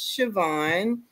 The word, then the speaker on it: Shvon: Uh as So, my name is Siobhan. I did not spell it.